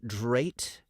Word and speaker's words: Drate: The Dasha, the Dreet, the Jikaln, the Drate, and... Hold on, am I pronouncing all these right? Jikaln, Drate? Yeah, those all sound good to me.